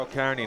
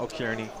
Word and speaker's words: O'Kearney: it's Dara O'Kearney, not O'Kearney. Is my pronunciation been wrong all this time?